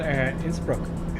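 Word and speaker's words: Innsbruck: India and that is the airport represent can't pronounced It's the final instbrook it's broken oh you said it right oh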